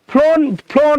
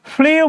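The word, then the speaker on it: flew: প্রবাহিত হয় কি দিয়ে, ফ্লোন ভিড় হচ্ছে না, ফ্লোন হবে না। ফ্লিউ মানে ফ্লু, এটা ফ্লিউ না, এটা উচ্চারণ মনে রাখবেন ফ্লু।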